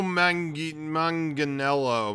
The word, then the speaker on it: Manganiello: how do you say his last name Joe Manganiello Manganiello Manganiello I believe it is yeah eivol